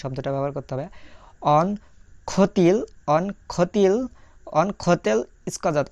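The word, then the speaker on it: хотел: প্রথম অক্ষর খ, তারপরে অ, খ, তারপরে দেখা যাচ্ছে টে, তে, ই, এল, তেল, খ তেল।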